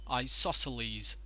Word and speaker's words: isosceles: one is pronounced as isosceles I saw sceles leave I stresses on saw isosceles so isosceles triangle isosceles triangle now over